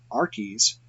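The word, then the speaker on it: Arques: Rennes le Chateau spelled our keys AR qu es is actually pronounced just like art then there is that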